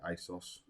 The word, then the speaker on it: ASOS: that's how you say it, by the way, ASOS, your Amazons and your John Lewis's, what are